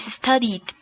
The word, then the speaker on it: studied: Así que en el pasado pronunciamos la terminación ed como d, d, d. Okay, so the past tense of study is studied.